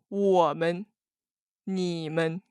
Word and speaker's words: 们: And also be careful because the 们 added at the end of the word is always a neutral light tone. So when you pronounce it, you just leave it very light, like 我们,你们.